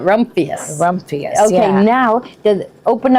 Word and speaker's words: Rumphius: And this one is Here, try to pronounce that. rumpious. Rumphius. I would call it Rumphius.